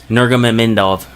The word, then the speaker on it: Nurmagomedov: Nurmagomedov is what I pronounce it. Nurmagomedov.